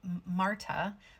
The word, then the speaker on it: Martha: And I heard Marta, but it's spelled Martha.